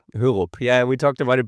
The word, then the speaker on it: Hørup: On my left side, there's Maria del Castillo Hørup, right? Hørup. Yeah, we talked about it before. It's Danish. A Danish-Spanish mix of the surname, so not easy to pronounce.